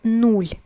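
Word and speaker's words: нуль: The 0 is nol in Russian, or there's also another pronunciation, is nul. Both mean basically the same, but as a Russian speaker I'm gonna tell you that nol is used very often.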